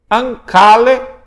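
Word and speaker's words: ἀγκάλη: Então gama gama, você vai pronunciar NG.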